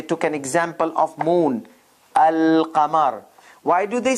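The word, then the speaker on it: القمر: but at this point moon letters they don't take shadda and the article alif article is like the the moon the moon so article alif the lam is pronounced al kamar in sun letters there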